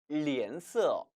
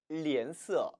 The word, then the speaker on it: 脸色: 脸色脸色 지금 보시는 이 脸은 얼굴 검자예요. 이 단어는 조금 주의할 필요가 있겠죠? 왜? 한국의 도금은 검, 기억인데 중국어 발음은 脸, 리을 발음이란 얘기입니다.